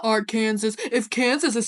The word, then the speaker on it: Kansas: It's just I'm very passionate about this because, Kansas is pronounced Kansas because it is the English version of the Native American word, whereas Arkansas is the French pronunciation.